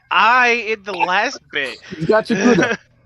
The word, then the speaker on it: Gachiakuta: Gachiakuta?